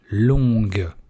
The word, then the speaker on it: long: Видите, G не произносится.